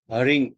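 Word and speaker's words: ह्रीं: है उसका अक्षर है हरिंग ह र ई की माता हरिंग बोलते हैं इसको और कुछ लोग इसको रिम भी बोलते हैं म का उच्चारण करते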